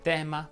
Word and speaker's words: tema: Le parole che terminano in ema richiedono la pronuncia aperta. Ecco qualche esempio. Si dice tema, problema, sistema, anatema, schema, suprema e così via.